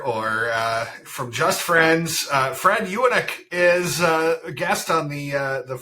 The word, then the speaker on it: Ewanuick: Well, our family says it Ewanuick, and my dad years ago went up to Vernon. Because there's family in Vernon, and apparently we spell it and say it wrong. So I don't usually correct people because we might actually be saying it wrong.